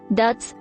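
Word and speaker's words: dit: code dots are called DTS pronounced with a short I sound and a silent T dashes are formerly known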